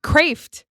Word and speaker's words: Kreeft: Kreeft.